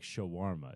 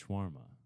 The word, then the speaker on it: Shawarma: little different spices it's also not said like Shawarma it's just schwarma Shawarma schwarma I don't know I don't believe in Allah I don't I can say however I want you botch you botch schwarma that's okay I I don't think you've maybe